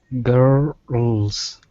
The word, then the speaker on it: girls: You don't want to flatten it against the top of your mouth. It's not or L way back here. Okay? It's like this.